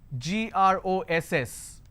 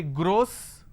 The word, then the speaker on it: gross: a word which is gr OSS now this word can be pronounced in two ways first one Gras Oh sir I can say gross or I can say Gras or sir okay this is your